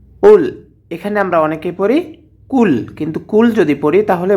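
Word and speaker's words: قُلْ: এখানে আমরা অনেকে পড়ি কুল কিন্তু কুল যদি পড়ি তাহলে ভুল হয়ে যাবে এখানে পড়তে হবে কুল কফ হরফ টিকে জিহ্বার গোড়া তার বরাবর উপরে তালুর সঙ্গে লাগাইয়ে উচ্চারণ করতে হবে কফ কফ লাম পেশ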